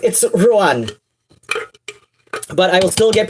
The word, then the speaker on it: Ruadhán: And, like, I don't know, like, even in person, like, yes, it's properly pronounced, Ruadhán, or, I know a lot of people put a bit more emphasis on the second syllable, which I did not